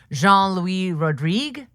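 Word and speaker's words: Jean-Louis Rodrigue: He recently wrote a book with his his friend and collaborator, acting coach and movement director Jean Louie Rodrigue. Scott, am I pronouncing that correctly?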